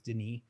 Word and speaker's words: Denis: His name looks like it's spelled Dennis, but it's Denis because he's Is he French?